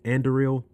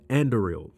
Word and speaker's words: Anduril: And then if we look at the company, I don't want to pronounce it. I think it's Anduril. Let me pull it up real quick. Yeah, Anduril.